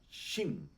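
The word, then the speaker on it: שין: a la derecha es esa letra se llama Shin y se pronunce se pronuncia como una ch en español okay Como cuando decimos chico o cuando decimos chocó o no sé cualquier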